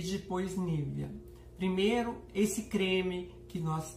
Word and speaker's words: Nivea: A pronúncia correta da marca em alemão é Nivea, que vem com acento circunflexo no E final.